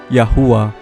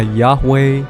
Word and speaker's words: Yahuah: bukan Inggris atau modern jadi kita harus bacanya seperti mereka orang menyebut namanya yahua saudara mungkin nanya kenapa bukan dibacanya Yahweh yehofa atau jhova nomor 1 huruf j